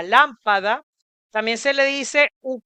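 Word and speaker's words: lâmpada: lo que sería a lámpada, con acento circunflexo en la letra A, que es el sombrerito, que tiene un timbre semicerrado, a lámpada.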